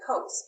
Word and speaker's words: cos: which is here uh cos looks like cos but again we say coats because the word is really cosine so we want to